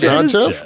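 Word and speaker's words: Geoff: Jeff yeah it not Jeff I think it's Jeff it's Jeff I think most people who spell it like that go by Jeff you could call him Joff John I'm gonna call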